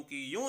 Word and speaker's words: queue: वो यूं की यूं ही प्रोनाउंस किया जाता है, उसका उच्चारण वही रहता है।